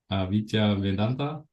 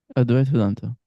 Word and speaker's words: Advaita Vedanta: And like in the Vedic, or how you say it, Avitya Vedanta, Advaita Vedanta.